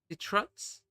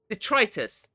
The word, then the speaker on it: detritus: Ditx. Got to look up how to pronounce that. Detritus.